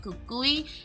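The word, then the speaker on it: Cucuy: The way we spell it is like C-U-C-U-Y, Kakui.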